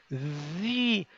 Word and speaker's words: these: É como um Z com a língua entre os dentes, ó. These. Vamos tentar. These. Isso, com som de I.